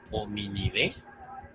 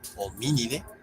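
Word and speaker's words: Hominidae: esdrújulas, por lo que no es hominide ni poace, sino homínide y poace, es decir, nunca se acentúa la última sílaba.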